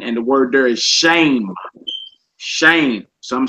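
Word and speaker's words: שם: The word for name, should I say, is masculine, and the word there is shame. Shame. Some say Shem.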